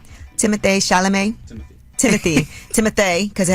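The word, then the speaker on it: Timothée Chalamet: shalam is that how you say his name Timothy shalam Timothy Timothy timoth because it has a little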